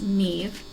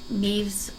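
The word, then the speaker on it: Niamh: So this girl, I guess her name's pronounced Neve, which I would have never guessed by the way it's spelled.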